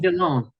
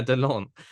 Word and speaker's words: Delon: Delon. Yeah, Delon.